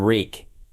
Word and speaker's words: Reek: He became Reek. It rhymes at freak.